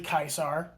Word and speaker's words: Caesar: word Caesar and uh in Latin C is pronounced as a hard k so it is technically kaisar or Kaiser whatever you